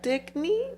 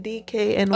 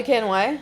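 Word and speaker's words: DKNY: um oh by by Dicky how do you pronounce that brown the DK DK and Y oh DK and Y yes DK and Y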